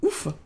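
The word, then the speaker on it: を: verbe de déplacement directionnel o qui s'écrit avec le filagana mais que l'on va prononcer o alors même si certaines personnes le prononcent également o c'est possible qui a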